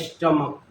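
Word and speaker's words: stomach: तो सिर्फ एस लगाएंगे जब सीच का उच्चारण क हो तो सिर्फ एस लगाएंगे जैसे सी चलिए सीच का प्रोनंसिएशन यहां क सीच का उच्चारण जब क हो जाएगा और जैसे लीजिए सिंगुलर प्लूरल जैसे एसटी ओ एम ए सी एच स्टमक ये है स्टमक स्टमक का अर्थ होता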